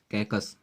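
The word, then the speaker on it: caucus: तो ये कैसे याद होगा, देखिए कैकस, इसका जो प्रोनाउंसिएशन है ऑलरेडी कैकस आ रहा, काकस, काकस बोलते हैं इसे।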